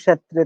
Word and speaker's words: ক্ষেত্র: স্বতন্ত্র উচ্চারণ করতে হয় এক্ষেত্রে আমরা ক্ষেত্রকে উচ্চারণ করতে পারি ক্ষেত্রা অর্থাৎ ক এর উচ্চারণটা ভিতরে লুপ্ত থাকবে ক্ষেত্রা কষেত্রা কষমকে যদি আমরা বলি